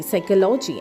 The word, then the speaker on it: psychology: and we pronounce as s y c h o l o g y psychology and the sentence that we get is she studies psychology in college.